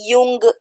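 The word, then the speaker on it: Jung: लेकिन यहां पे फिर जैसे एडलर आए कार्ली इनका जो है इंग्लिश में जंग देखो अगर आप स्पेलिंग देख रहे हो तो जे यू एन जी है बट हिंदी में जो है युंग उनका नाम है क्योंकि देखो अलग-अलग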